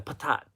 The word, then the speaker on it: patat: Oh, last but not least are the frites or the potat. Patat. How do you say it? Is it patat or is it potat? But the potatoes, aka the patat. Thank you, the patat.